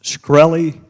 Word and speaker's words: Shkreli: chairman is it pronounced shkreli yes sir see there you can't